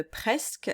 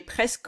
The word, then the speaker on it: presque: Donc ça se prononce comme s'il y avait une apostrophe, mais il n'y en a pas.